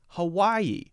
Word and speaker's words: Hawaii: sound a little weird like Hawaii Hawaii that's not only about stress but we need to know the ie is a two syllable piece of the word and we have to be able to distinguish those two and say them correctly hmm hmm hmm hmm